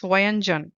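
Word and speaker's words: व्यंजन: the combined consonants now how can you pronounce wanan you can break this word in two parts v y a Nan and J A nanan then similarly this suuk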